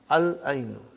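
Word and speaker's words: العَيْنُ: Al-ainu. The eye. We pronounce lam. Al-ainu.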